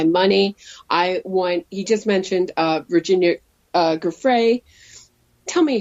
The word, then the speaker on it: Giuffre: He just mentioned Virginia Giuffre. Tell me how to say her name again. Giuffre, I think it's Giuffre. That's what I think.